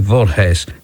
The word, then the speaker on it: Voorhees: able to identify them it's spelled v-o-r-h-w-s and i think it's something like vault haze this is from bradford